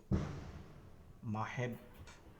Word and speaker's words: মাহেব: আচ্ছা, এটা হবে কি মাহেবেব ভাই, মাহেব। আসসালামু আলাইকুম। আসসালাম রহমতুল্লাহ। জি, আপনার নামের উচ্চারণ হবে জি, মাহেব।